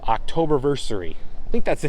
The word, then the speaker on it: Oktoberfestiversary: Oktoberfestiversary.